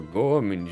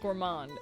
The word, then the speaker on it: gourmand: Well, Pie is a bit of a gourman, you see. She only eats these high quality bird pellets from France. They only have them in big pet shops downtown. It's pronounced gourmand.